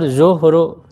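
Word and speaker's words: ظهر: sama ya dibacanya beda kalau yang punggung pakai Fatah Z ya zuhru gitu ya harakatnya Pak itulisannya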